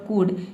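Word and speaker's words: could: अब देखिए यहां पे है शुड और कुड।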